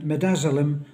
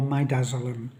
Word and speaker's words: midazolam: I think it's uh you see the midazolam or midazolam whichever you choose to pronounce it and that together with